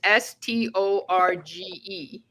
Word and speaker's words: storge: Okay, well, it's spelled, it's Greek. It's Storge.